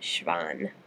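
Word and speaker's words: Schwann: by the schan cells that's how you pronounce it shvan maybe it's German I can't remember um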